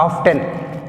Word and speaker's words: often: 12th one, often, not often. చాలామంది ఆఫ్ 10 అంటారు. ఆ 10 అన్నప్పుడు నువ్వు 10 పలికివు, టీ పలికినావు, ఆన్సర్ ఎట్లా దొరుకుతుంది నీకు?